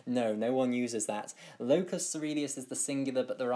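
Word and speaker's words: locus coeruleus: the locus ceruleus, and I'm afraid it's spelt rather strangely. It's spelt locus ceruleus. It's got loads of, it's a very strange spelling, but it is pronounced locus ceruleus.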